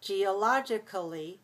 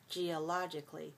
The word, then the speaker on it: geologically: when you add geologically you don't have to pronounce the a in geologically you can just make it sound like k-l-y cli you don't have to pronounce it geologically it's okay but lots